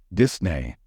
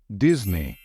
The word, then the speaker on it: Disney: brand correctly I know it might be tempting to say Disney since this this is probably the way you pronounce it in your native language however in English we say it as Disney as if there is a letter z in the middle Disney is the only